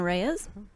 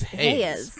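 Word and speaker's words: Reis: Wilson Reyes. It's Hayes. Yes. Hayes, yes. I looked at the word and then I didn't pronounce it correctly because I looked at it instead of just remembering what it was.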